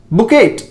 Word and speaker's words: bouquet: बुकेट। बुकेट अगर आप ऐसे बोल रहे हैं तो इट इज आल्सो रॉन्ग, यह भी गलत है। इसको आप बुकेट नहीं बोलेंगे, यह है आपका बुके।